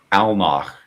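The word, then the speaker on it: Alnoch: Almach is the demon lord. How do you spell that? A L N O C H. I keep giving it like the German at the end, not unintentionally.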